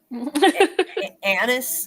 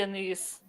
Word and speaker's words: anise: So, anis, is that is that how you say it? An I say anise. Anise.